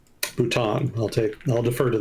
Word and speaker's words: Bhutan: Chat saying it's pronounced Bhutan. Bhutan.